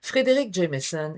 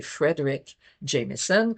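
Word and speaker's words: Fredric Jameson: Frédéric Jameson est souvent je prononce pas bien parce que c'est Frederick Jamison.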